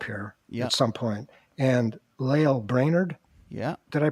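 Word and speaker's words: Lael Brainard: is coming up here at some point and lail brainerd yeah did i pronounce that i think you got it right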